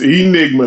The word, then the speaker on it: E. Nigma: It's Enigma.